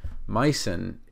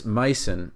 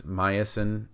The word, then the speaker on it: -mycin: This micin, which many people pronounce as myosin, they insert a vowel in there.